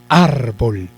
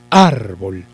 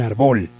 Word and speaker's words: árbol: Vamos a hacer de cuenta que llevara el acento en ar, porque lo separamos, ¿no? Árbol, la separamos por sílabas. Si lleva el acento en ar, yo diría, me encontré un árbol, árbol.